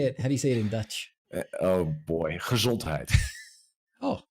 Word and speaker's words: gezondheid: Oh boy, gezondheid.